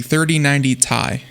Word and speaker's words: 3090 Ti: You have to say it like the rep said, the 3090 Ti. That's how you say it.